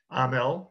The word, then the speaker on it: Hamel: I also found Francis Bailey, Francois, Felix Hamel, Amel, A-M-M-E-L, and Antoine, A-M-M-E-L. Now, why is it spelled A-M-M-E-L? H is silent in French.